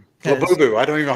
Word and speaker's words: Labubu: Laboo. I don't even know how to say it. My Yeah, Lubu. Yeah, labubu.